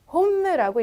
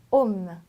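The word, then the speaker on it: homme: 자, 스펠링 자체는 H가 들어가 있지만 불어에서 H는 발음이 없어요. 절대로. 그래서 홈라고 읽지 않고 옴.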